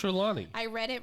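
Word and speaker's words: Trelawney: the names wrong anyway it's not troll when he's like not even close I don't know I just it's trelawny I read it wrong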